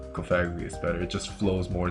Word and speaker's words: Cofagrigus: pronunciation from cofagrigus is cofagrigus because it's supposed to be like coffin but I like cofagrius better it just flows